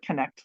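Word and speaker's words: Kecht: and e c HT only one vowel but you pronounce it connect like connected us okay thank you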